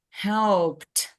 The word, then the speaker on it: helped: we pronounce it as helped help yes so we have T at the end so it's help helped